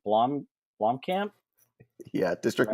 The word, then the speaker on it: Blomkamp: Neil um of course can't pronounce the last name Blom Blomkamp yeah district 9 yeah he's working on a